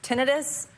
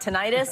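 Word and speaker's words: tinnitus: we just learned this this morning this is pronounced tinitus not tentis Tinus listen to the way the British do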